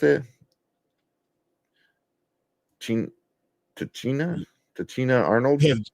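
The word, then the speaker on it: Tichina: Weeks, Tisha Campbell, and was that how you pronounce it? Tachina Arnold. Yeah, Tachina Arnold.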